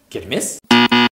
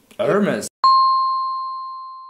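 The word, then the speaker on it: Hermès: Hermes. It is Hermes because it's a French word. Француз тілінен келген бренд болған үшін бірінші әріп айтылмайды да Hermes болады. Онда француз тілінен келген болса, бұны мен Hermes деп оқитын шығармын.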